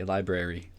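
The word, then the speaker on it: LBRY: into a little bit library as they call themselves how did you spell that again lbr why library so library what it is is pretty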